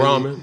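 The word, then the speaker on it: Brauman: But with you and Coach Braun, I'm pronouncing his name right. Brahman. Yeah, Brahman.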